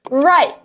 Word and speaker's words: right: It's not true to say that some people don't pronounce the T. We pronounce the T. It's a stop T. Am I right? It's not am I right. Right? I have to put my tongue up and stop the air.